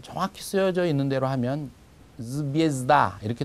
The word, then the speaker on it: звезда: 별 이렇게 되어 있는 것은 정확히 쓰여져 있는 대로 하면 zvezda 이렇게 될 겁니다. 그런데 강세가 아에 있고 모음 예에는 강세가 없습니다. 그래서 그걸 예라고 하지 않고 그냥 이처럼 읽어서 zvezda 이렇게 읽으면 됩니다.